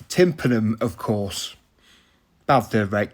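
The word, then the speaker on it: tympanum: lentil Tri Tri trar correct pronunciation alert it is tanum of course bad thir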